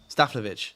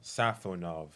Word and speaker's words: Safonov: Staflovic. Staflovich. How you say it? How do you say your goalkeeper? Safonov. Safenov. Safov completely wrong.